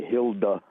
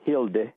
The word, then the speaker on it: Hilda: In the United States, we pronounce it kind of ugly. You say Hilda, and then in Europe, Scandinavia, it's more Hilde.